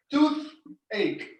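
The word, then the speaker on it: toothache: me poop egg and don't forget the th comes right between your teeth tooth ache very good number four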